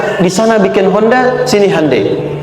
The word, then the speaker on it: Hyundai: Sejak an TK itu ditanamkan betul kita bisa kita dari TK sehingga ketika di sana bikin Honda sini Handai. Hyundai kan dibacanya Hande ya kan sana Honda sini Hai gitu.